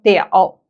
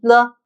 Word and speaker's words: 了: First of all, it has two pronunciations, 了 or 了. Now let's do a deep dive into this first pronunciation, 了.